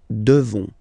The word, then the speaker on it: devons: You just pronounce this on, O N, this nasal. Okay. And then the S, final S, is not pronounced. Nous devons.